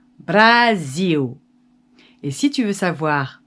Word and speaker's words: Brasil: une très bonne question brésil en portugais ça s'écrit comme ça avec un as et ça se dit brazil et si tu veux